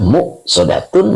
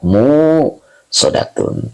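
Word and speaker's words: مؤصدة: kembali ke hamzi ya jadi bacanya ada dua qiraat ya Jadi kalau ada yang baca innaha alaihim musodah jangan disalahin karena ada dua qiraat ya boleh dibaca modatun boleh juga Dibaca muodatun tapi kita pakai yang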